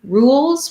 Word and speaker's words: rules: um can help you rules we just have the tense oo sound rolls we have the